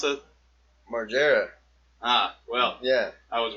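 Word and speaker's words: Margera: Margareras. How do you pronounce it? Marggera.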